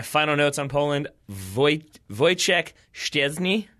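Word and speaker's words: Wojciech Szczęsny: notes on Poland voice voice check stairs knee I think is how you say that name I finally made myself learn and I think I've got it and also a kamila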